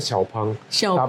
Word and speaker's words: Xpeng: p xpeng apa si xpeng sebenarnya bacanya kalau di China itu mereka sebutnya xopeng Iya xopeng tapi di Indonesia kita sebutnya internasional kita sebutnya expeng G loh Oh Jangan